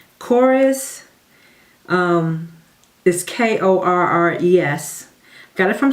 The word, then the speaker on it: Korres: Then, speaking of just grabbing things that I don't normally use, I got this, and I'm hoping I'm pronouncing it right. Korres, is K-O-R-R-E-S.